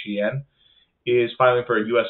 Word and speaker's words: Shein: Shein, the Chinese discounter, I think that's how you say it. I have heard people say it different ways, but I think it is Shein, is filing for a U.S.